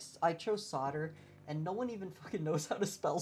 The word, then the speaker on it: solder: Um in the US and Canada, we call it solder. We don't pronounce the L, which is another thing.